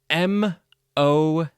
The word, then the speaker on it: mow: can you believe it we have n-o-w pronounced now but m-o-w pronounced mo today we will continue